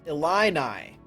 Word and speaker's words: Illini: have more research i have been given a pronunciation guide it is illini illini oh okay why not esports or illinois